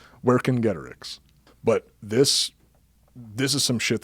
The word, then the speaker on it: Vercingetorix: So now it's time to get into the nitty-gritty, as you said earlier, with part 2 of our series on Vercingetorix.